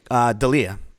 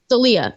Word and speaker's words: D'Elia: alright so Christy oh how do you say his last name Dahlia Dahlia okay chris d'elia there someone